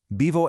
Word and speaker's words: vivo: Vivo en Colombia. So the crucial point is this. When pronouncing a word like vivo, that V nestled between the vowels doesn't have a harsh, buzzing English V sound.